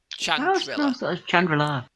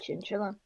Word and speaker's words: Chandrila: Chandrila. Whenever I'd read it. Yeah. I just said Chinchilla. Yeah, it's pronounced Chandrila on Corella.